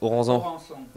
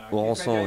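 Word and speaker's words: Aurensan: C'est Oranzan. Qui fait ça, Oranzan. Oranzan, ouais.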